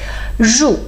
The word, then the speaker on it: 入: the most is 入 'r' is not easy to pronounce and with the falling tone may even make it harder but you pronounce perfectly 入 okay 黄河 again two